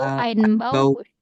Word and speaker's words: Einbauküche: Bukan Einbau, Einbauküche.